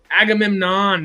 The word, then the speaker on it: Agamemnon: I forgot who it was till we saw him get but Agamemnon, as Benny Safdie as Agamemnon was the presence there. Right. I didn't love the Say it costume. with me, Harris. Agamemnon. Agamemnon.